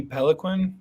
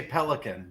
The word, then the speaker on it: Peloquin: read him and uh Indy Peloquin is how you pronounce it yeah the dark blade assassin like it's more fun to say pelican but yes yeah